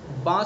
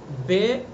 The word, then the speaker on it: با: با کا مخرج ہے دونوں ہونٹوں کی طریقہ حصہ، با، اور اس کا جو تلفظ ہے وہ سیدھا ہے بالکل، با الف کے ساتھ۔ بے، یہ اس کا یہ طریقہ درست نہیں ہے بے پڑھنا، عربی کے